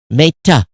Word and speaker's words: Meta: Pronounced the E as in egg. Meta. Meta. I thought I'm saying meta, right? Not an A in made.